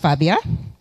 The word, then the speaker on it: Fabia: just uh reintroduce myself my name is Fabia pronounced Fabia um and I'm a